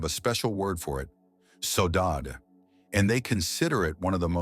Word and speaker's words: saudade: It's pronounced roughly saudade, and it's not just nostalgia, it's something far deeper and far more valuable.